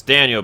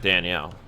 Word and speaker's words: Daniel: back foot of nate by the way that's daniel bouchard not danielle sorry for the wrong pronunciation there and they unable to